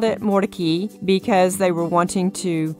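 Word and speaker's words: Mordecai: way to put it I've heard it called morai morai and I was told by one of the curators at the museum that the family called it Mori because they were wanting to get away from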